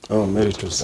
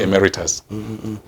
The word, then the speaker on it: emeritus: public service emeritus actually it is a latin word and it is pronounced the way it is written emeritus yes it is supposed to be but people have anglicized it to be emeritus now in the church